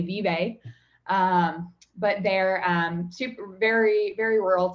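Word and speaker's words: Vevay: So I grew up in southeastern Indiana in a little town called Vevey. It's spelled V-E-V-A-Y. Most people would say Vevey.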